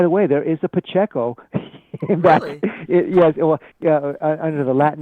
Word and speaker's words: Pacheco: way there is a Pacheco yes under the Latin name what you know it's spelled what pasiko but it's Pacheco you know you translated